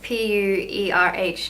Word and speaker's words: pu-erh: day like that's always say in Chinese it's pronounced pu-erh tea I found this in Chinese supermarket it's